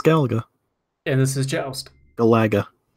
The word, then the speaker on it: Galaga: and this is joust galaga let's pronounce galaga please no it's not galago let's pronounce joe oost